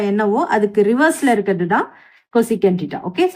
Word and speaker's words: cosecant: கொசீகன் theta இது எப்படி pronounce பண்ணணும்னா லைக் இதுதான் இதோட ஸ்பெல்லிங், கோசீகண்ட், இது சீக்கண்ட். பட் நீங்கள் எழுதும் போது இப்படி எல்லாம் எழுத தேவையில்லை. ஓகே, ப்ரொனவுன்ஸ் பண்ணும்போது கொசிகண்ட் டீட்டா அப்படின்னு சொல்லணும்.